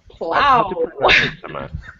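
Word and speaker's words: plough: Plow plow, but they're pronounced this like to plow a field.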